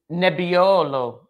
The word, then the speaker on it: Nebbiolo: So we're going to pour Nebbiolo is what the pronunciation said because it's Italian.